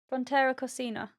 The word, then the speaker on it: Frontera Cocina: but this time we tried Fonterra Oh Cascina. yeah. Oh, I've done a reel on it, and Yeah, I had to learn how to say it. Fonterra Cascina. Frontera Cocina.